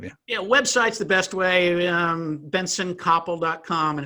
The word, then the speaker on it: Bentson: websites the best way Bentsen Kapil calm and it's got a tee in it but you can't hear it ven TSO n Kapil Copp le calm a silent T yeah okay so this